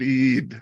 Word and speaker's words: Eid: Just Eid.